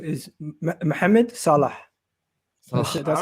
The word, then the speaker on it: Salah: Salah. Say again. Salah. Salah. I mean, it meant at the end, like ha at the end.